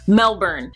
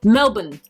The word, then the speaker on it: Melbourne: vacation, going back to Melbourne, because that is the way that it is spelled. But apparently Ash is like, it's Melbourne. We pronounce it Melbourne.